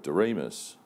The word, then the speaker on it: Doriemus: One of the really exciting things that I'm doing, and that's why I came on the board of Doriemus, as the guys in the office call it,